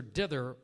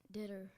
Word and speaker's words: dither: Zach impatiently watched his sister dither over which sweater went best with his outfit. Dither. Ditter. D-I-T-T-E-R. Ditter. Incorrect. Give him a round of applause, please. Dither, D-I-T-H-E-R, was the correct pronunciation there.